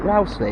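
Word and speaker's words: Rowsley: Ley now that's it that's how you say it Rous Ley that sounds better other than Rous Ley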